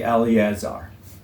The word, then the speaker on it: Eleazar: And don't say Eleazar. That's, you know, in Eleazar, the second E is silent.